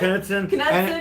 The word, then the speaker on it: Knudsen: Knudsen. I think that's how you pronounce his name. The boss. Knucklehead, but it's Knudsen.